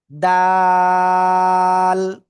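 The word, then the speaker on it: دال: জিহ্বার আগে উপরে 2 দাঁতের গোড়ায় লাগান লাগান লাগান লাগান, লাগিয়ে সিম্পল উচ্চারণ করতে হবে 3 আলিফটা নিয়া। দাল, দাল।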